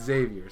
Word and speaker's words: Xavier: But Xavier, so capital X, got it. If I don't say the X, then I'm not saying it right. Got it. It's not a silent one.